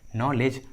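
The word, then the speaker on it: knowledge: आ रहा है, के साइलेंट है, के का उच्चारण नहीं किया गया है। नॉलेज, knock and नी।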